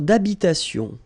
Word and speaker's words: habitation: Une tour d'habitation. Remember, H doesn't exist in French, well, in most of the cases. So it does mean that you don't pronounce it.